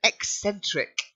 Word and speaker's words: eccentric: Then eccentric. Eccentric.